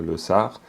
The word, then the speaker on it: Losar: Vu que c'est le premier jour, c'est jeudi, c'est le premier jour, donc le Losar, si on le prononce à la tibétaine, le Losar. Et le Losar, c'est donc le nouvel an, hein, Lo, l'année, et puis Sar, Sarpa, pour dire nouvelle.